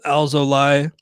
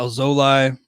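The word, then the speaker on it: Alzolay: somebody and go with alzolai uh alzolai i think is the correct pronunciation i'll look that up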